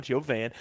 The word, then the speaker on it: Yovan: the pronunciation it's not Johann Jovan I love the yo the Oregon shirt by the way the yo Dash and then a van yeah we're in the